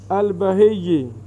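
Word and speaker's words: البهي: اچھا، البہی، بہی یا پر شد ہے، لفظ تلفظ کو پہلے صحیح پڑھیں گے تو پھر بات بنے گی نا۔ بہی یا پر کیا ہے؟ شد ہے۔ یہ لقب ہے ان کا، یہ کیا ہے؟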